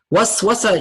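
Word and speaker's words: وسوسة: Waswasa, you see how if I pronounce it correctly, how it sounds? Waswasa. Whisper. Whisper, right? Waswasa, whisper. Very similar sounding, because that's what the idea of waswasa is, to whisper temptations.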